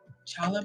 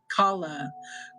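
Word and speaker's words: challah: No. Chala. Like a K. Kala. Kala bread.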